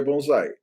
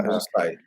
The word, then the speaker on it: bonsai: Mas se vocês forem procurar a pronúncia japonesa, tem quase absoluta que é bonsai. Eles dizem o Z desta maneira, mas pronto. E não bonsai.